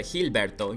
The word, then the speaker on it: Gilberto: Okay, it says here, WBA president Gilberto Mendoza, Gilberto, you pronounce it like that in Spanish, Gilberto Mendoza, has once again, claimed they are planning to reduce their number of belts.